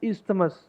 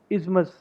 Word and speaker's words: isthmus: उसके बाद आता है हमारा, इसको बोलते हैं हम इस्थमस, पर इसकी करेक्ट प्रोनाउंसिएशन है इज़मस इन इंग्लिश।